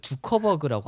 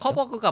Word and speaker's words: 저커버그: 그 즉흥으로 들어갔을 때 느꼈던 거 일단 저는 옛날부터 느꼈는데 마크 주커버그라고 하나요? 한국말로 주커버그? 뭐 어떻게 읽죠? 저커버그가 맞는 발음인데 주커 주커버그라고 많이 쓰더라고요.